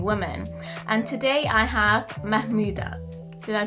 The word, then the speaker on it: Mahmoudat: And today I have Mahmoudat. Did I pronounce it right?